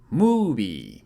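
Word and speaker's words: ムービー: Movie. So make sure to stretch the vowels.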